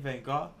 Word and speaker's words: Vaughn: That's how you say his name, Van Gaal.